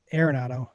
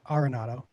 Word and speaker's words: Arenado: so there's that uh nolan arnotto not aironato arenado a lot of people say it wrong uh i traded to